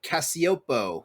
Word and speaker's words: Cacioppo: George Cacioppo, that's how you pronounce his name.